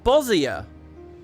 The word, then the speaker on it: Bosnia: I'm supposed to say Bosnia. What the fuck, chat? You usually jump at me when I pronounce things wrong. Bosnia. It's funny because she pronounced the Y. You guys say Bosja. Bosnia, everybody.